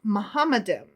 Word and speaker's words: Muhammadim: Zafar argues that in the original Hebrew, those last two words are pronounced Muhammadim with the suffix im, expressing respect and greatness, as in the Hebrew word Elohim. Okay. All right. So Muhammadim, Elohim.